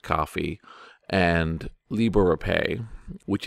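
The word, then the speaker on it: Ko-fi: been connected to like Kofi which I guess is pronounced coffee and Libre or pay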